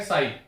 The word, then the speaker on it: psi: इसको बोलते हैं साई, ठीक है। PSI इसको बोलते हैं साई, इसको प्रोनाउंस करते हैं साई।